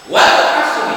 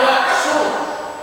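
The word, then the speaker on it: والعصر: pada surat walari nah Wal Asri tidak boleh bacanya Wal asru Kenapa dibacanya Wal asr karena wau di sana itu namanya wau qasab qasam itu artinya sumpah walqasri Tuhan bersumpah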